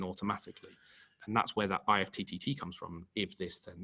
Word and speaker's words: IFTTT: We use a system called IFTTT, or IFT. I think it's technically pronounced. It sounds a bit weird saying IFT, but it's kind of like combining two systems together.